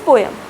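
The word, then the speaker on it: poem: अभी बीच में ये काफ़ी ज़्यादा बच्चों को इस स्कूल्स में पोम सिखा रहे थे, बट the correct pronunciation is पोयम, right.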